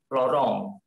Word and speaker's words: Laurent: Harusnya tadi bukan Melanie Laurent ya, tapi harusnya Laurent.